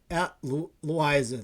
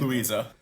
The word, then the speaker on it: Louisa: Home against Herm home against Benedictine at Liza. Louisa. Loisea. I never say it right, so I just say Louisa.